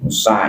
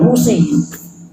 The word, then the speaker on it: Musa: Musa berkata. Wa qadaina ila Musa dalam surat Al-Isra. Ya. Ada ila huruf jadi bacanya Musa juga, bukan Musi.